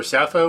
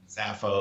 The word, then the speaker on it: Sappho: that's it oh yeah you pronounce it sapo or sappho or Zappo s-a-p-p-h-o yeah yeah estimated IQ of around 180 190.